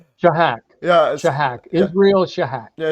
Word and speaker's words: Shahak: How do you pronounce his name? Shahak. Shahak.